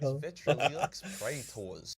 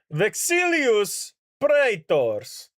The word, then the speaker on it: Vexilius Praetors: Vetriliux Praetors.